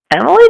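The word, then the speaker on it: Emilie: How do they pronounce it in-game? It is Emily.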